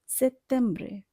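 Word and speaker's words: settembre: সেপ্টেম্বরে, এখানে বানানটির দিকে একটু খেয়াল করে, এখানে ডবল টি আছে। টি এর উচ্চারণ ইটালিয়ান ভাষায় ত এর মতো হবে, কাজে আমরা এখানে ট উচ্চারণ করব না, আমরা ত উচ্চারণ করব সেপ্টেম্বরে।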